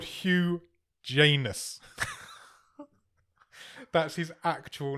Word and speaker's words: Janus: The writer's called Hugh Janus. That's his actual name. I presume it's pronounced Janes. It's Janes. Hugh Janes.